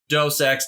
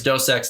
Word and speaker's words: Deus Ex: Deus Ex series yes dos X however anybody wants perhaps I've heard it pronounced different ways dos X Deus Ex but mankind divided I